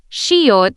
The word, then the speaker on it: 시옷: Shiot sounds similar to the English S.